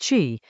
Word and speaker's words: 谿: Chinese letter xi, pronounced qi, which is low, which receives all the runoff